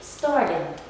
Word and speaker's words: started: So if it ends in t or da, all we have to remember is to read the ed as id. Started, started, started, okay?